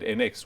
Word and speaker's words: ENX: NX, even though it's spelled ENX.